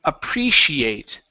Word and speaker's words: appreciate: Let's go to the word um appreciate. Okay. So, here this is going to be a long e sound. So, it's appre. Now, this word here, we're going to say she. Appreci.